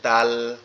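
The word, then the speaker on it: دال: এই উপরের দুইটা দাঁত এই দাঁতের গোড়ায় আমাদের এই যে জিহ্বার আগাটা। এই অংশটা লাগবে। লেগে নরম আওয়াজে উচ্চারিত হবে। দাল দাল দাল এভাবে মানে জিহ্বাটা উপরের দুই দাঁতের গোড়ার সঙ্গে লাগবে।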